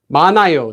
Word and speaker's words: 많아요: by this empty letter, this simply is not pronounced. It goes away. 많아요, there are a lot of them. Notice here we have this letter at the bottom, followed by an empty consonant. So all you do is you don't need to pronounce it. You don't say 많아요. 많아요 would sound really weird.